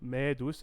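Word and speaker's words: Mēdus: uh julius at medus i just want to make sure i get that uh e and the macron pronounced correctly so medus at uh us davos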